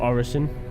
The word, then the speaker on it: Orison: Wait, you see Horizon? Okay. Or Orison? No, I said it right the first time.